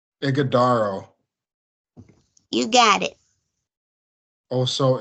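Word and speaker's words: Ighodaro: I'm seeing the pronounce I'm seeing the pronunciation as IG aaro igaro you got it Oho igodo and yeah I know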